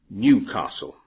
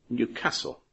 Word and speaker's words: Newcastle: Now, you will hear many English people pronounce the name of the city in the northeast of England, Newcastle. But the people who live there say Newcastle.